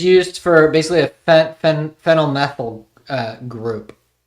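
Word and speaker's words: phenyl: The name fennel produced pronounced fennel uh abbreviated as ph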